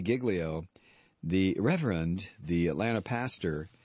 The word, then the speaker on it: Giglio: Uh, I told you last night that Louisie Gigglio, and that's the way he pronounced. I thought it was Gileio, but it's Louis Gigglio, the Reverend, the Atlanta